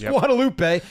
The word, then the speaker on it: Guadalupe: You're supposed to say Guadaloop. Hey, I took Spanish class. You're saying it wrong. It's Guadalupe. And I'm not going to disrespect.